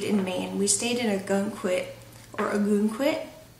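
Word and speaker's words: Ogunquit: quit or Aon quit I know some people from Maine and New England I think pronounce it a git or maybe just down here they pronounce it that way but I call it a gun quit um but anyways and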